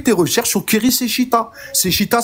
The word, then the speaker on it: Seshita: Seshita, ça s'écrit S-E-S-H-E-T-A. Keri comme Keri James.